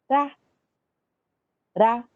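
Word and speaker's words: רע: Ra. Esse ain final, ele não tem som, ele é mudo. Então, fica só ra, ok?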